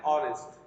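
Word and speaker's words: honest: অ্যান অনেস্ট, এইচ লেটারটি এখানে silent রয়েছে।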